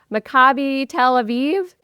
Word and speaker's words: Maccabi Tel Aviv: won the Euro League with, I'm going to mispronounce this, David, you'll have to correct me, Maccabi Tel Aviv, That's correct.